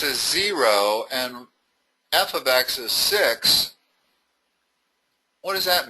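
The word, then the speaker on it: f(x): fx = 3x + pronounced f ofx.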